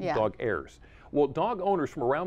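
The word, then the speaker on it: Dogheirs: called dog hairs now let me spell it for you d-o-g-h-e-i-r-s like airs airs dog airs well dog owners from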